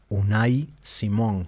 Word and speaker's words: Unai Simón: como hay un mundo mbappé hay un mundo unai Simón se pronuncia así Diego sí un Simón es Vasco